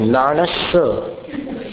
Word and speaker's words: नाणस: नहीं, नाणस कैसा उच्चारण हमारा देखिए आप, नमो नाणस, नाणस, एक आधा स है और एक पूरा स है।